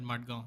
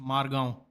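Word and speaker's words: Margão: Yeah, but the people in Goa don't call it Madgaon. This is another thing. This is another thing that has been changed in my lifetime living here. It's pronounced Margaon.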